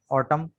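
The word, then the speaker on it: autumn: एन कब silent होगा, यहाँ देखें, आमतौर पर ये एम के बाद आ रहा है, ऑटम, कॉलम, डैम, और यहाँ गवर्नमेंट, यहाँ पर एन साइलेंट है, गवर्नमेंट।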